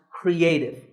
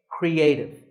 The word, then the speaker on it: creative: This word is pronounced creative. There are 3 syllables, cre, a, and tiv, with the stress on a, creative.